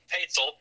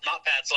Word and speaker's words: Paetzel: Hello, I'm Paetzel, not Patzel. I didn't realize that was Oh my gosh. going to be a pronunciation. No, it's fine. It's better than somebody calling me Pastel.